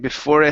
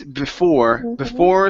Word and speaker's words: before: Remember, these E's that are at the end of words in English are silent. So instead of saying before school, before, it's before school.